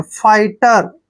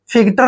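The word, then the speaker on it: fighter: टी ई आर देखि टी से पहले जब भी जी एच आता है तो जी एच को हमेशा हम साइलेंट रखते हैं जी एच का यहां पर उच्चारण नहीं करना है एफ आई को हम क्या पढ़ते हैं फाई और टी आर को टर पढ़ते हैं फाइटर फिटर नहीं पढ़ना आपने फाइटर पढ़ना है और फाइटर मींस होता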